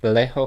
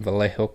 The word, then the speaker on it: Vallejo: you say that word wait valleyho valo valj Vallejo California so this couple shot and killed in Vallejo California July 4th 1969 Darlene Elizabeth Fen and